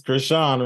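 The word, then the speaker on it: Chrisean: It's funny because her name is Krishan, right?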